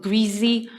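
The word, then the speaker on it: Grashey: there is no overlapping this is called greasy gry view or the grass view uh it's g s e y so there are different pronunciations so this is actually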